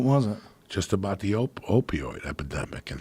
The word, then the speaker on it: opioid: Just about the opioid epidemic and how the DEA stopped prosecuting.